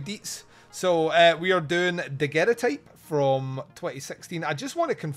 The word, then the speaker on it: Daguerrotype: So we are doing Daguerrotype from 2016.